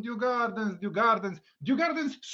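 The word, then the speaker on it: Djurgården: Due Gardens to jest zła wymowa. Due Garden to jest odpowiednia wymowa.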